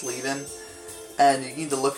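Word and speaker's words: Leven: name is Jackie Lin it's spelled l e ven like people might think it's Le but it's leing and you need to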